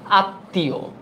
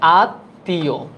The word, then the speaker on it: আত্মীয়: এটা তো হবে না যুক্ত বর্ণটির উচ্চারণ সামান্য আনুনাসিক হয় আত্মীয় এই যে এটা কি হয় আত্মীয় এটা একটু অনুনাসিক হয়